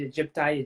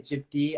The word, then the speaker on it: aegypti: And then lastly is Aedes aegypti. And this is another one or depending how you say it, Egypti, Egypti. I've heard different pronunciations, but they're the same.